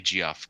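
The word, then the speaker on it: Geoff: So in 2004, Ethan Van Sciver and Jeff Johns. I say Jeff because his name is spelled with a G.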